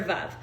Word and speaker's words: Veuve: But I think you say Veuve. I think you're Oh. supposed to say Veuve like love.